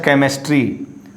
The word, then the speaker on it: chemistry: Now sometimes after A and C, first chemistry, not chemistry, it's a chemistry.